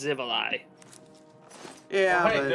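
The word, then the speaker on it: Xivilai: Man, I miss the Shivali. I wish they would bring them back. Or I hope they bring them back, I Zivali. mean. That's Yeah. one I do know the pronunciation of. It's Zivali.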